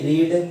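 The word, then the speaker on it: read: ही रीड, ही, इसको रीड नहीं पढ़ेंगे, इसको प्रोनाउंसिएशन रेड होता है, तो ही रेड अ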